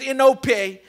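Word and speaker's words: ἐνώπιον: It's a Greek word that says enope. That's the name. That's how you pronounce it.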